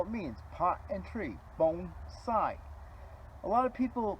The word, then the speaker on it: bonsai: and that's all it means pot and tree bone side a lot of people mispronounce that and they say Bonsai well Bonsai